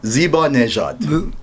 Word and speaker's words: Zibanejad: Thank God you pronounced it correctly, because I call it Zibanejad. So Zibanejad, all right?